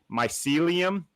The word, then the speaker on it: mycelium: I'm gonna try and say it right here, mycelium. I think that's how I've been pronouncing it.